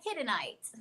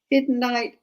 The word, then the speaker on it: Hiddenite: I would pronounce that Hiddenite.